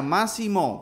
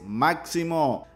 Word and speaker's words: Máximo: y es que muchos apuntaban que se llamaría massimo pero en realidad la pronunciación correcta es máximo así lo dio a conocer la propia luisa